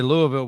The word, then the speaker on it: Louisville: know I already know you got to say Louisville with your t with the tips your tips touching Louisville Louis hold on you